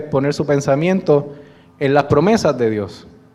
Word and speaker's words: PROMESA: La ley, las siglas de la ley se pronuncian promesa.